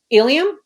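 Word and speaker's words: Illium: want to make sure i'm saying them correctly ilium mm-hmm correct and it's aiden i say adan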